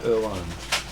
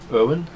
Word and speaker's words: Erwan: introduced to princess carlatina erwan as they uncall her though most people say irwin i will use the correct pronunciation and the pronunciation was